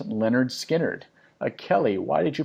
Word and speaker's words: Lynyrd Skynyrd: from the 1973 album pronounced Leonard Skynyrd a Kelly why did